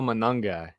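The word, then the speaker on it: Monangai: And how do you say that guy's Manungai? Is that right? Yeah, man. Kyle Manungai.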